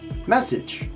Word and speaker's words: message: is message message message now message has the double s this double s gives this sound mess and then sej message message now you have that little j sound at the end be careful this word